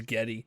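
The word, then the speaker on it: Geddy: wasn't born with it his real name is Gary Lee but his like great-grandmother or something pronounced Gary as Getty yeah that actually makes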